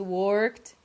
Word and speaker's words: worked: that when we see the word worked we all imagine that the pronunciation is worked so we have two syllables in words that are only one syllable and this is really